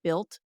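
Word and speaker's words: Bilt: specific points earning card it's called the built card it's spelled bi LT this is the only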